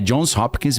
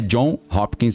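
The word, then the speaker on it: Johns Hopkins: É Jones Hopkins mesmo, tá? Para quem acha que eu tô pronunciando errado, não é John Hopkins, não é Jones, tem um S Hopkins.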